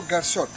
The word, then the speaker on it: Garsot: For anyone who doesn't know my name, the real name is, and becomes Garsot from the first syllable of, Gar, and the first syllable, Sot. Or together, Garsot.